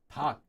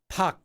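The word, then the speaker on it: 닭: asked with the word pac. So, this is the word pac for chicken. Listen to how I say it. Pac. Do you hear this letter? No.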